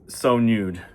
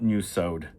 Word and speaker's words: So Nude: So it's So Nude, but look at the way it's spelled. So new sewed. So I believe it's So Nude. It's not new sewed.